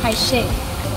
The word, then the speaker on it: calle: But whenever there's a double L, it's pronounced sh. So, for example, if you're saying calle, it's caiche.